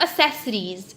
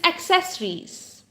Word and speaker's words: accessories: fast it's breakfast right it is not accessories it is accessories so some of you